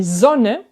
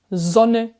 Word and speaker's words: Sonne: Tu as remarqué, avant les doubles consonnes, 2N, 2L, le O est plus court. Sonne, sollen, wollen. Alors qu'avant un H, le O est plus long. Der Sohn, die Sohle, wohnen.